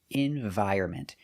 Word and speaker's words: environment: So remember, pronunciation, environment. The N is silent.